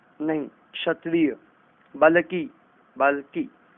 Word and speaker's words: क्षत्रिय: ये अलग अलग राज्यों की अलग अलग भाषाओं के अनुसार बोलने में, उच्चारण में, जिह्वा में फर्क होने के कारण ये गलतियां हो जाती हैं। क्षत्रिय नहीं, क्षत्रिय।